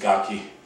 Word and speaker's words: gake: So if Sensei Porter pronounces it Gaki, I think that's the way I should pronounce it also.